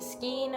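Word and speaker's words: skein: you are going to purchase what is called a skin of yarn. It's spelt funky.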